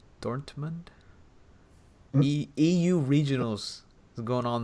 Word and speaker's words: Dortmund: Do you even pronounce the T? Dormund. Dortmund.